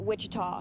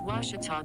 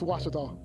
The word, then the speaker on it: Ouachita: oh a cheetah oh back in texas everybody pronounces it wichita but really it's ouachita washington how would you pronounce it it's washita baptist university get it right it's water tall people it's watch it all and welcome back here for set number